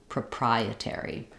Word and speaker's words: proprietary: to get there is start on the stress syllable prary and then add your PR back that sounds like prary proprietary so I'm stretching on the pry and then I I have reduced uh shorter syllables for the other other parts of the word um yeah I do